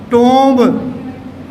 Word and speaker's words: tomb: See here, B after ma is not pronounced. It remains silent. So firstly it's tomb, tomb. But here, again there is OMB. We pronounce it as comb. Again ba is there, but this is not pronounced. So this is comb, comb, comb, ow, ow.